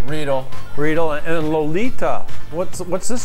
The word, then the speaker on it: Riedel: These glasses, how do you pronounce that? Riedel? Riedel.